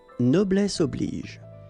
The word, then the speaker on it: noblesse oblige: How does this video pronounce it? Noblesse oblige. Okay, so I was saying it right.